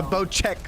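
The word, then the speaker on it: Bocek: bo sex compound the bow check side i've been pronouncing it wrong it's bow check this precision weapon requires patience and pinpoint consistency the bow check not the boss yeah that gun is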